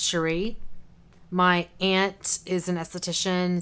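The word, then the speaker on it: Scerri: is by paul cherie it's spelled s-c-e-r-r-i but it's pronounced sheree my aunt is an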